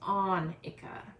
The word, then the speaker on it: Annika: And then Miss Kristen commented again that the name is pronounced Annika.